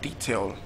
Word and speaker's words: detail: We have detail. And it's even stressed on the first label, so that means it cannot be the answer.